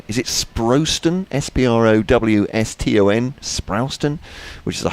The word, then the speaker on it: Sprowston: Ian, you'll have to check this pronunciation. Is it Sprowston?